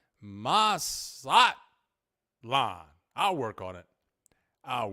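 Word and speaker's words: Mazatlán: satlan with an infinite with an emphasis on the last a Mas slot La I'll work on it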